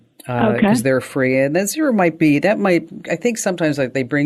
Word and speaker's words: Xero: There's also a program called Xero. It's spelled with an X, Xero, and that's free for small businesses.